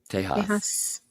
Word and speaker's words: Tejas: And the right way to say Texas. Tejas.